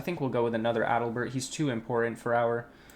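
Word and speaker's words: Adelbert: Adalbert. Yeah, that's how you say his name.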